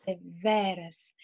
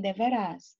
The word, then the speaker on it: deveras: a gente o seguinte: traz a pronúncia da palavra deveras, deveras. Veja que a sílaba tônica é o ve. E veja que essa sílaba tônica, ela está assim bem aberta, tá? Para vocês não dizerem devera e nem deverás.